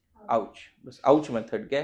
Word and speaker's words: AOCH: तो AOCH, बस ये अगर ध्यान में रख लिया, क्या प्रोनाउंस करोगे इसको? AOCH, आउच।